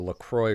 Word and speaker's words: LaCroix: weigh in on how this is per night pronounced Lacroix oh is a Wisconsin company near the look Froy river so it is in fact and you